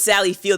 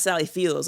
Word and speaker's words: Sally Field: and someone mentioned like it's Sally Field, not Sally Fields and I was like wait what? It's a good thing you saw that post before we started recording. You would have said it wrong. I definitely would have said Fields for sure. And I was like oh like I've been saying it wrong this whole time. But anyway, Sally Field to be clear.